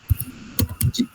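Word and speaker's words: じ: Jadi untuk perubahan shi ini dia enggak menjadi zi, ya. Dia tidak menjadi zi. Melainkan menjadi ji.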